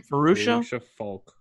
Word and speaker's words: Fairuza Balk: It stars, I always say her name wrong. Fairuza. How do you say her name? Fairuza Balk.